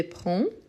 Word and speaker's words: prends: parfait donc j'ai prend prend avec S à la fin donc prend donc le de s en ne prononce pas je prends je prends tu prend